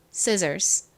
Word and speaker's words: scissors: 줍니다 그래서 발음해 보면 scissors scissors가 됩니다 자 발음해 볼게요 scissors 가위 scissors 좋습니다 같이 적어 볼게요 먼저가 오고요